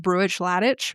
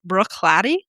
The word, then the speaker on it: Bruichladdich: I had always been calling it brewish ladic because that's how it's spelled, but it turns out that it's actually pronounced Brooklatt.